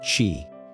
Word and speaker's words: Qi: The most famous early hegemon was Duke Huan of Qi, Qi is pronounced Chi.